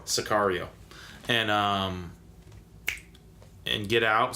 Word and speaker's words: Sicario: American Wow I played a good role in pronounce it for me the Benicio del Toro where he's killing cartel Oh Socorro Sicario and uh and get out so that's his